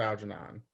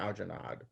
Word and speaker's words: Algernon: Flowers for Algernon, not Algernod. Yeah. Algernod is a given male name which derives from the Norman French meaning of with mustaches. She definitely meant Algernon and like didn't know how to spell it, and we just got the D at the end.